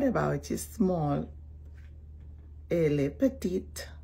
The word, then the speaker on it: petite: Elle est petite. Remember you put the E at the end and lightly pronounce it.